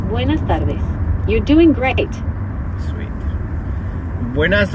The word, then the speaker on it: buenas tardes: Buenas retardes. Almost. It's buenas tardes.